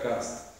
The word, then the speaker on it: Karst: Pues porque resulta que hay una región que está entre Italia y Eslovenia que se llama Carso, que en alemán se pronuncia karst.